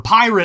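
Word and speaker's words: PYRT: of money and also it reads like pert sorry it's Peart yeah uh which he debuted on Tick Tock in an amusing set of videos whatever pirate I'll say it like he wants me to uh pirate is not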